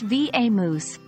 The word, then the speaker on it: vamoose: quite straightforward it's pronounced V moose with the emphasis on the second syllable though the B moous is the most common